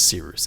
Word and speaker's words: Cyrus: With that said, my name is Seeroost. It's spelled like Cyrus, pronounced like Sea Rooster, just take out the ter.